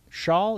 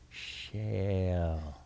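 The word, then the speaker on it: Schaal: johnny galicki followed by shawl is it shaw yup kristen i always feel the need to mispronounce because there's a double a like i should be saying kristen shale nope you gotta write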